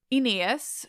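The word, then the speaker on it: Oineus: satisfying than versions with less memorable names attached enias who by the way it's just hard his name is spelled o-i n-e-u-s it doesn't matter he gathers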